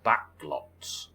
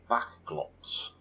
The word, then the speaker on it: Bachglotz: Back as in not forward, and glotz that rhymes with slots. Backglotz. That's not an easy thing to say. Backglotz.